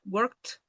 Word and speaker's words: worked: Worked. Como la K es una consonante fuerte, la D su fuera una T.